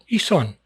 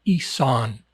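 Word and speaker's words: Isaan: Isan. That's a huge, huge section of Thailand. It's spelled, in English, it's spelled I-S-A-A-N, Isan.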